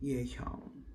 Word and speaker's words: Yehyung: But yeah, it's pronounced Yehyung. Yehyung. Like Ye as in Yesu. Hyung as in there's no other word with that with that syllable.